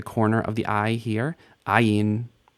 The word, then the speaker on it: ayin: Ayin. Like aleph, ayin is silent in standard and modern pronunciation.